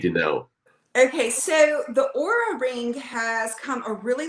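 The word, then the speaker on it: Oura: know okay so the aura ring has come a really long way uh it's spelled o-u-r-a the aura ring they're actually made out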